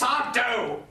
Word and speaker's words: Sardo: That's Sardo! No Mr. accent on the dough.